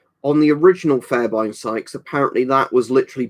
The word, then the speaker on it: Fairbairn: So Flazzy says it's pronounced Fairbairn.